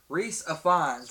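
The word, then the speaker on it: Rhys Ifans: I want to pronounce his name wrong, and I want to feel like a dumbass. Reese Ifans.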